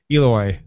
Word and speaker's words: Ooloi: Eloi. Eloi? Yeah. Almost like Eloi from the H.G. Wells Time Machine.